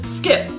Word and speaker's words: SCP: scp a lot and when you say it out loud it's three syllables scp so in shorthand some people have taken to adding an i so you can pronounce it skip hey get those skips